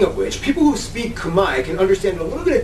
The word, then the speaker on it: Khmer: All this time you thought it was Khmer, right? No, it's Khmer. The R is silent. And the E is an I.